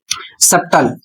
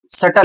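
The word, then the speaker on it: subtle: अगला शब्द है, इसका लोग उच्चारण करते हैं सब्टल, जबकि सब्टल उच्चारण नहीं करना है। सही उच्चारण क्या है? तो सही उच्चारण सटल होता है, सबटल नहीं होता है।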